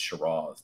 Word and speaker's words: Shiraz: But it's Shiraz if you're going to pronounce it like an Aussie. So be expecting to hear that from time to time. My California accent will slip in there, and sometimes it's Shiraz, but, you know, like, for sure.